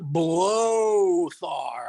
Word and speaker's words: Blóthar: the bangor and straight from outer space his blotter amen yeah see it's actually pronounced blow thar i don't know why we just put the